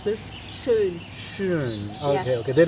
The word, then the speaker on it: schön: So in German word, so the one word I know that is in like schön. Schön is for beautiful. So Schön, yeah. so schön is for we can use for the people, place, and Yeah.